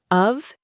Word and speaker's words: of: I explained that in natural speech, the word of is almost never pronounced with a clear O sound. It's unstressed, so it reduces. The O sound becomes awah, and the F sounds more like a V.